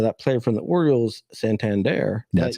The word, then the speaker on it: Santander: online you know that player from the Orioles Santander that's how you say it that you mentioned yep that guy is hitting 262.